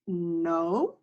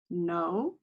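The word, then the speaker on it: know: and it has five letters but the W is silent so we have a I right now we have our line number three okay line three word one is no no and remember we're practicing our silent letters so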